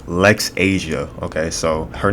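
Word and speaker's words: Laxasia: I just looked it up on Google Translate. It's Lex Asia. Okay, so her name is Lex Asia, the complete one.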